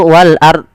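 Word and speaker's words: وَالْأَرْضِ: ini lafal wal ard itu harus dibaca donnya. Ada kebanyakan kita tidak membaca. Nah ini salah. Yaitu wal ard. Wal ard. Wal ard. Ah, tidak ada bonya. Harusnya wal ard. Wal ard ard ard ard. Nah, donnya dibaca wal ard.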